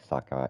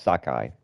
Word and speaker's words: Sakai: it's it's something like saki it yeah it's Sakai it's like it's like saki but it's Sakai I think instead is